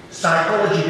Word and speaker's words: psychology: So again, the additional 5 S's of training is stature, or structure, psychology, because it does not pronounce the P anyway, sustenance, and I'm very